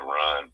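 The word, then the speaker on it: Rhind: It's the Moscow papyri, it's the Berlin papyri, it's the Kahan papyri, and it's the Rhine papyri. Rhine papyri, okay. The Rhine papyri, different papyrus.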